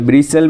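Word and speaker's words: bristle: में जो है ब्रिसल, ब्रिसल में टी साइलेंट है।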